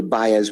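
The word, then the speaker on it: Baez: warrant in DeKalb County under buyers which a quarter is spelled b-a-e-z versus state and then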